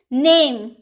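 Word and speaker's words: name: type यानी कि किस्म नेम ने हम बोलते हैं नेम तो नहीं बोल सकते नेम इ का उच्चारण नहीं होता है नाम साइन साइन चमकना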